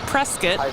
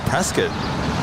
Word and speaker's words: Prescott: There's a CRJ landing from Prescott, which I learned how to say this week from you.